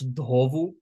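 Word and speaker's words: ધોવું: To wash, dhovu. Again, with an interdental duh. So we bite our tongue for that DH sound.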